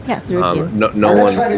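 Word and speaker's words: Tsarukyan: That's how you pronounce it, Sarukian, right? Yeah, Sarukian.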